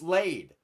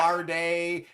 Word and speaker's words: Lade: It's Lade. It's not Larday. It's not Laddie. It's not. I've heard it all.